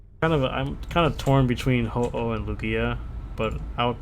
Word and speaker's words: Ho-Oh: Ho-Ho, Ho-Oh. Pokemon, Hopo, No, Ho-Oh. Hopa. How do you spell that?